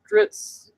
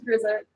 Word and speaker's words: Drizzt: So Dritz.